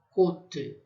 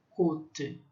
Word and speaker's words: côte: O O fechado, côte, côte, que são costelas.